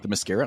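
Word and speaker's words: Themyscira: Ooh, how do you pronounce that? The Mascara. The Mascara, okay.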